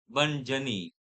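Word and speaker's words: bonne nuit: Spelling देखना, बनी का स्पेलिंग क्या है और साउंड क्या है। यू जस्ट सी, जमीन आसमान का डिफरेंट देखने को मिलेगा, राइट।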